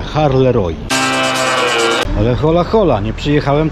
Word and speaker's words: Halle: tej Belgii w miejscowości Halle Roy O tak na lotnisku w Warszawie mówili że to się wymawia Harley ale hola hola nie